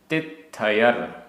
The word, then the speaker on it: तित्थयर: गाथा क्रमांक 126 उच्चारण तित्थयर आधा त थ तित्थयर गणराय गणराय अब्भुदय तित्थयर